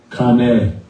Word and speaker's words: qānê: qānê. Qānê. Beśem. Qānê beśem. Qānê beśem. Right? Beśem. Qānê beśem. Marijuana. Qānê beśem.